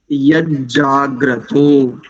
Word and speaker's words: यज्जाग्रतो: अस्तु, देखिए, यज्जाग्रतो, यज्जाग्रतो, दूर, 2 जकार है वहां, तो यज्जाग्रतो, यज्जाग्रतो, ग्र तो दूर, मुदयति, दैवन, दैवन, देवन नहीं करेंगे, ध्यान रखिए।